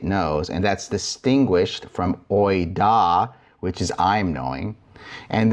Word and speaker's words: οἶδα: And that's distinguished from oida, which is I'm knowing.